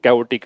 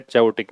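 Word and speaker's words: chaotic: को बोलते हैं कैोटिक इसकी प्रोनाउंसिएशन कैवोटिक है चैोटिक नहीं है तो कैवोटिक का मतलब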